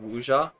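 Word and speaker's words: wuxia: So, it's a very weird game because it's, you know, that genre of Wuja, you know, it's like say again, wuja. It's spelled like w u x i a.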